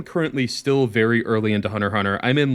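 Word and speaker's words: Hunter × Hunter: getting me to watch Hunter Hunter. That is how you pronounce it, right? It's not Hunter X Hunter. Yes, it is Hunter Hunter.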